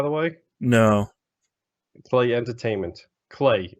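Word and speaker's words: Klei: way no play entertainment clay it rhymes with play that's really good all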